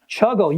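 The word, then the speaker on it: ChuGL: Chuggle. Yeah. Doesn't it sound nice? It rhymes with juggle. Yeah. And it it also sounds like chuckle.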